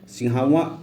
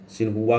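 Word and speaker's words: Xinhua: China news agency, जिन्हें सिंहावा news agency भी कहते हैं, चीन का समाचार एजेंसी है। ठीक है, ये प्रोनाउंसिएशन आप लोग देख लीजिएगा, सिन्हुआ करके है कुछ।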